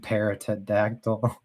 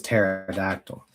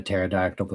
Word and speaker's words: pterodactyl: Oh, the P is silent. Oh. Oh, pterod. I was saying the P. I was saying paratactyl perodox.